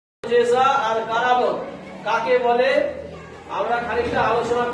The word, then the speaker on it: কারামত: কারামত উচ্চারণ হবে কয়াকা রয়াকা ম ক।